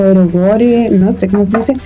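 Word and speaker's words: ero guro: Ya, pues la cara de Midori, la estética de Midori y todo lo eroguro, o erogore, no sé cómo se dice.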